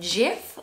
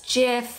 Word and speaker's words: GIF: pronounce the word gif is it jiff or is a gif apparently the person that created it says it's jiff but then there's controversy